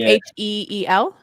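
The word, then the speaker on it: Huel: Like H-E-E-L? H-U-E-L, like feel, but Heel.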